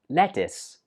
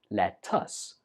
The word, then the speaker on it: lettuce: you're talking about food this one is pronounced lettuce lettuce now of course the spelling looks like it should be pronounced let us but actually the last syllable is pronounced is lettuce for example I need